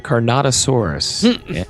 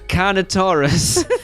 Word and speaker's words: carnotaurus: The carnotosaurus and dinosaur. I'm going to pronounce that properly for everyone just to save Hunter's uh carn. It's a carnotaurus.